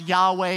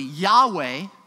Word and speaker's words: Yahweh: What is likely pronounced Yahweh, yet we're completely unsure, but that's not the point.